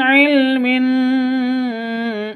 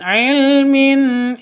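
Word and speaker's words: علم: tanwin bertemu dengan HAM Hamzah jelas terang tidak boleh dengung tidak boleh panjang min ilmin itu salah yang betul Min ilmin begitu non mati bertemu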